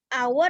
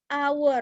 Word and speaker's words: hour: Dari penulisan memang pakai H, tapi dari pengucapan hour dia berubah jadi A.